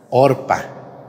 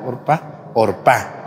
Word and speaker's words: Orfa: Ruth y la otra orpa Orfa como Orfa con acento en la y que se mueren